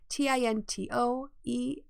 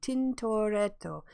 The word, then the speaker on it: Tintoretto: Am I pronouncing it correctly? Tintoretto. Tintoretto.